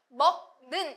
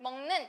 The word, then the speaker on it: 먹는: 그래서 얘도 먹는 이렇게 하지 않고 우리가 그냥 편하게 발음하면 먹는 이렇게 되잖아요.